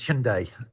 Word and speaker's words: Hyundai: most people would say hyundai and i've heard hyundai what is the right pronunciation because obviously it's a korean word the korean pronunciation is hyundai sunday it has a good